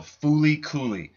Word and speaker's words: FLCL: you need to see it's called Fooly but it is spelled l l c it's in Japanese of